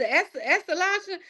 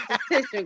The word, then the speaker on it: esthetician: Y'all know how long it took me to learn how to pronounce that? Hey, look, everybody say that. My grandmother say, "Now, what you is, Estalation?" I said, "Grandma, he's an esthetician, Grandma."